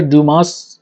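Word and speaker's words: Dumas: 19थ century में French डेमेटिस्ट Alexander ड्यूमा fees. यह French है इसलिए यहां पर डमास में डमा एस साइलेंट रहेगा।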